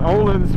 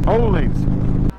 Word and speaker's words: Öhlins: I used to call it Ohlins, but they told me that it's pronounced Ohlins.